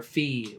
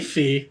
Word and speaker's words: Fi: You even got Fi or Fee, whatever you want to pronounce it. You know, I'd say Fee.